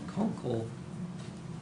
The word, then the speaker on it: Kunkel: dated June 25th, 2019 from Conkle I hope I'm pronouncing that correctly. Yeah. Engineering, how is it pronounced? Kunkel Engineering. Kunkel Engineering. Yeah.